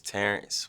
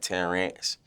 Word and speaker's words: Terrence: people mispronounce this uh they mainly like put a a instead of the E like they be putting an a instead of the E so they be like 10 rants but other it don't